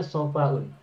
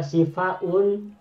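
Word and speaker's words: صفاء: fa, alif, hamzah, maka ini dibacanya bukan sifaun tapi hanya saofaun, yakni isim masdar mujarad, bukan isim masdar masjid bazan yang kedua. Kenapa? Karena sifaun tidak digunakan.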